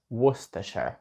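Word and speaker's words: Worcester: і тому він так і називається ще раз wooster наступним словом в нашому списку буде ось це слово і як би ви його вимовили так от я думаю ви ніколи не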